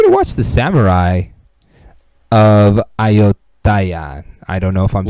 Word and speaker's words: Ayutthaya: This is how you pronounce it. Oh, hold on for it. Oh wait, we've been doing this bit for a while. Ayutthaya. Woo, child. Ayutthaya.